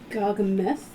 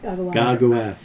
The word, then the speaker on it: Garguath: Gargameth or Gargamath? Garguath. Garguath. But you call it Gargameth if you like. I'm sure he'd love the mispronunciation.